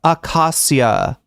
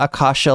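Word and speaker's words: acacia: Accasha. Um Accasia. Um not Akasha like the Akashics records.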